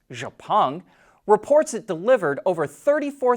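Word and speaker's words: Xpeng: to make a profit xpang which we believe is more correctly pronounced japan reports it delivered over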